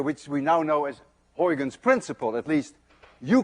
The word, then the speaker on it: Huygens: You see, this sound, UY, is pronounced in Dutch as ui. None of you can say ui unless you're Dutch. To make it worse, this sound you don't have either in English.